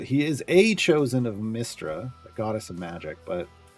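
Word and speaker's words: Mystra: it's spelled my s r a but it's pronounced mistra I always grew up pronouncing it Maestra it's the difference between you know now now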